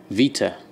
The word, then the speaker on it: beta: The way I do it is close to the Greek way of saying it, which is, okay, which pronounced exactly like you say, beta, but with a V instead of a B. Vita.